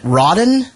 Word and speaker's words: Rodden: Is it Rodden? Yep, you got it right first time.